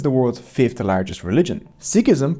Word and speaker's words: Sikhism: Sikhism, pronounced like Sikh, not Sikh, started here in Punjab, pronounced Punjab, not Punjab.